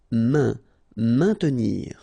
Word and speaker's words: maintenir: Maintenir, so remember A, I, N together will produce the sound un, maintenir, don't insist on the E, maintenir.